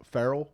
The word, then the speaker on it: Farrell: Colin Farrell it I Colin Farrell Farrell that's how you say it well Colin Farrell he's